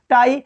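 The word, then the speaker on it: tie: जैसे लिखेंगे, जैसे लिखा रहता है पाई, लिखा है टाई होता है, टी आई ई, टाई।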